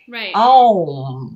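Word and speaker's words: Aum: So if we think about the knee as three joint structures, well, there are three syllables in OM. Ooh. It's A-U-M, right? OM.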